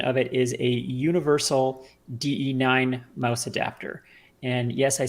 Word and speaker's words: DE-9: the exact details so I looked it up and de9 is in fact correct anyway what this thing